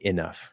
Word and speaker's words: enough: Now, I had these students say this word, and I said, all I want you to do is reduce the first syllable to a schwa, because they would say enough, right?